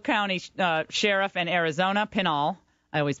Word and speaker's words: Pinal: Paul Babu is the uh Pinel County uh sheriff in Arizona Pinal I always mispronounce it and we're delighted he's with us